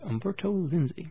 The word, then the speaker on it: Umberto Lenzi: this is liberto a lindsay i believe i pronounced that right yes yes yes umberto lenzi so I did get that right some guy